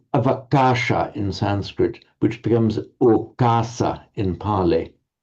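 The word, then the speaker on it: okāsa: Sometimes the ava in Pali as a prefix is softened or lenited to o, so okasa.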